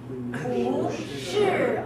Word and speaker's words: 不是: But 不, this one, you have to change to second tone when followed by a fourth tone. For example, I am not. 不是, 不是.